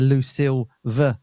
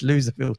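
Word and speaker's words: Loserville: tour it's called the the lville tour he pronounces it the lucil V tour but it's not right it's loser field tour um I want to show you some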